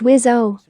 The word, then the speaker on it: WSO: The 2-seaters, technically known as the F-18F, can host a weapons systems officer in the backseat, abbreviation WSO, pronounced WIS-O.